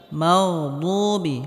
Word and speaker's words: المغضوب: মাগদুবি, মাগদুবি, এখানে গয়নে হালকা আওয়াজটা জারি থাকবে। মাগদুবি, দুবি, এখানে দাল বলা যাবে না। বদ মোটা হবে।